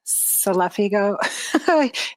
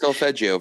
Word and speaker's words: solfeggio: Even if you go to YouTube, you can find, or you were mentioning, I always say it wrong, Selefigo, healing Oh, frequencies. solfeggio Thank frequencies, you.